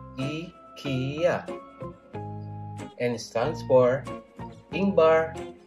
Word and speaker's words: IKEA: learn how to pronounce ikea in 3ds it's pronounced as ikea and it stands for ingbar kamprad and agundarid